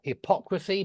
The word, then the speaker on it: hypocrisy: adjective is hypocritical and notice that the stress does change hypocrite hypocritical but hypocrisy and so the stress does change with that uh with the top one the stress is on the o o hypocrisy but hypocrite hypocritical okay excellent I think we'll